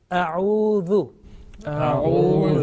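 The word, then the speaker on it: أعوذ: A'udhu. This is the first word which is commonly mispronounced.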